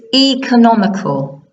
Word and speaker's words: economical: It's economical. It's economical. Some people say economical, Some people say economical. Important that the stress is on the first syllable.